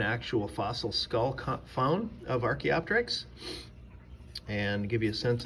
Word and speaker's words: Archaeopteryx: of the head of an ancestral bird it's pronounced archaeopteryx and archaeopteryx is in the hall of fame